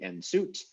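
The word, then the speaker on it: nswt: considered important enough that it is moved to the front of the word even though it is pronounced later so it's actually n suit although it is written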